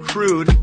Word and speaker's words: crewed: They say, a crewed mission, say it phonetically, not crude, say it crude, C-R-U-D-E.